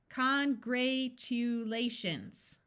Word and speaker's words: congratulations: rule divide before suffix congratulations well I don't recognize that so let's switch this long a to a short a congratulations here we have